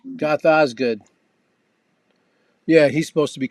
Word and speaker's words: Goth Ozg∞d: Now, can you pronounce it? Goth Oz Goth Goth Oz. Our I video say Goth Osgood. Goth Osgood.